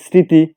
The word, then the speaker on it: স্মৃতি: তেমনি ভাবে যদি লিখি স্মৃতি, তাই এখানেও কিন্তু ময়ের উচ্চারণ নেই, সুতরাং সেখানে কিন্তু চন্দ্রবিন্দু হবে।